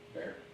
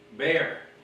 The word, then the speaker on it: Bexar: Yeah, Travis is Austin, Houston is Harris, San Antonio is Bear, or Bexar, if you're not from here. And if you call it Bexar, we know you shouldn't be. What, how do you say it? Bear. Bear.